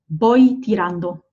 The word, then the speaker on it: voy tirando: And again, you'll notice the V there, I'm pronouncing as a B. Voy tirando, okay?